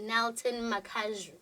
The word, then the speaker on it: Nilton Makazhu: Nilton Makazhu. Am I pronouncing it correctly?